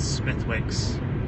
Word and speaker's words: Smithwick's: That's Smithwick's, for those of you who don't know how to say it. Smithwick's is the correct way of saying it.